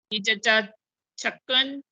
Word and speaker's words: چچا چھکن: سب سے پہلے دیکھیے، یہ لفظ ہے چچا چھکن۔ چھکن بھی نہیں ہے، چھکن، چاچا چھکن۔ چھکن جی چاچا چھکن، چھیک والا سر، چاچا چھکن ہے۔ اور